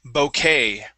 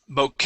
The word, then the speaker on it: bouquet: some words here uh this word would be bouquet where is this word Boke a flower bouquet bouquet it's French yep this is a